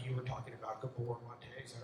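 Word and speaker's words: Gabor Maté: you've got to, like you were talking about, Gabor Mate, is that how you say his name?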